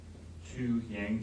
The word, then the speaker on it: Tou Yang: analyst by the name of, I believe it's pronounced Tou Yang, T-O-U, lots of Yang?